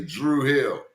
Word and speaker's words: Druid Hill: The Druid Hill YMCA or as us locals say Drew Hill.